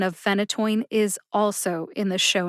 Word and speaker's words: phenytoin: phenytoin has three syllables the first syllable Fen gets the emphasis that means that you